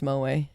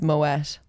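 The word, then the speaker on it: Moët: know this already but Mo not pronounced Mo it's Moet it's not actually French it's dutch yeah yeah yeah yeah yeah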